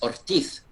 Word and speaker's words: Ortiz: The Ortiz, as if you pronounce it in the Spanish, man, it's Ortiz, Diego Ortiz.